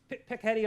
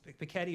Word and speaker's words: Piketty: So here's the basic Piketty argument. I actually don't know if it's Piketty or Piketty. I'm not sure how to pronounce it.